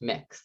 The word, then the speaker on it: Mx: that is MX and it's pronounced mix like mixing bowl uh so you would say mix lorino gave a presentation